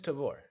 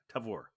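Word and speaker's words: Tavour: It is Tavor. Tavor. Yeah. All right, Tavor. Because at some point I thought you said it should rhyme with flavor.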